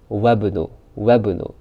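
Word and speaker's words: وابن: And if it's preceded by a word, these hamzatul wasl is dropped in the pronunciation, non-pronunciation, but remains in writing. Just like here. Ibn Ammar talibun, Wabn Yasir tajirun. Wabnu. Just like as this alif didn't exist.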